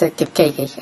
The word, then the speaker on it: Kipkeke: Kipkeke, you pronounce it's Kipkeke.